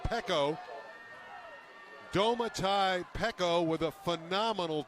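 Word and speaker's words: Peko: making the great play was uh pico so paco it's actually pronounced pekko domatai pekko with a phenomenal defensive effort and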